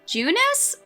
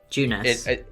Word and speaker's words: Junes: is evil right now is it supposed to be pronounced junis or Junes Junes yeah Junes yeah okay I